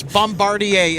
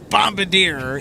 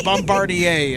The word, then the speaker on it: Bombardier: We have an inbound Bombardier Challenger 300. Okay. And I said it right this time. You absolutely did. It's Bombardier, and it's not Bombadier. It is Bombardier.